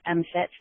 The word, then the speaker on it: MMFT: that I have done, having offered MFIT, that's how we pronounce MMFT, the way we say the acronym, pronounced.